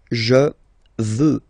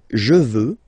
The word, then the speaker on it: veux: Vouloir, first person, je veux. Final X not pronounced.